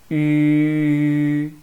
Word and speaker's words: 吁: First, let's use the same tongue position as in pronouncing Chinese. 一 Then draw your lips into form a circle as small as possible. Look at me. 一 See, the last part is 吁. This will help you to pronounce 吁.